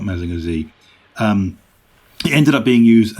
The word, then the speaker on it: Mazinger Z: And by the way, American viewers, it is pronounced Mazinger Z, not Mazinger Z.